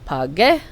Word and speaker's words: pagué: Pagar, the G becomes GU, so in the yo form it becomes pagué.